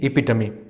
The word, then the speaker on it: epitome: The pronunciation is epitome.